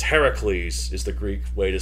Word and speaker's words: Heracles: everyone calls them mercury's the proper greek name is heracles i feel like americans wouldn't like that though we like mispronouncing stuff i know i just for some reason i get hercules rolls off the tongue better than heracles yeah but but yeah